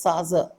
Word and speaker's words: Tsar: இதை வந்து TSAR பட் ப்ரொனவுன்சியேஷனில் சாசர். சாசர்னு pronounce பண்ணணும். அந்த சாசர் அப்படின்றது இட் இஸ் a title given to the rulers of the Russian empire.